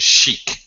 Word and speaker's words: chic: Chicago Chicago that's it and chic um meaning stylish stylish new trendy something is chic also SH Sam occasionally you will